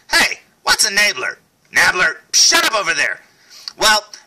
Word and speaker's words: Nabler: Enabler. Gary King and the Enablers. Yeah, I know it's probably pronounced Nabler because that's the way I hear everybody else say it in videos, but you know what?